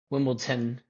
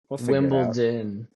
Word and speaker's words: Wimbledon: to figure it out yeah and also Wimbledon you always with a t bro Wimbleton no no no Wimbledon anyway but let's get